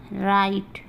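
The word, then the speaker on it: write: ये हो गया हमारा राइट, हमारा हो गया रॉन्ग, हमारा हो गया रिस्ट। तो ये सब वर्ड है जिसमें हम W को नहीं पढ़ेंगे, एकदम नहीं पढ़ेंगे, क्योंकि देखिए सब में W के बाद R दिया हुआ, W के बाद R दिया हुआ, इसलिए हम W का उच्चारण नहीं करेंगे।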